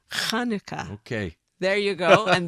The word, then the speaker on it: Chanukah: i looked it up the ch was developed as far as i understood so that people could pronounce it properly chanukah okay there you go